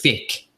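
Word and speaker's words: Faiq: We have, I have to pronounce his name properly. It's Fick, F-A-I-Q.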